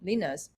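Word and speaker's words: Lynas: Australian mining companies like the uh rare earth liners how do you pronounce it leners okay basically uh this company after this deal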